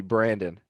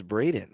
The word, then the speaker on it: Braden: say my name right he kept calling me brandon and rob would look at him and be like yo his name is brayden like what are you